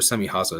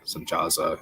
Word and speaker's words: Semjaza: Pretty sure Semihaza is Semjaza, so their pronunciation for that. Semjaza.